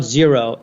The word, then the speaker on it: Xero: But David was aware of them because they're based in New Zealand, and it's a company called Xero. Xero is how it's spelled.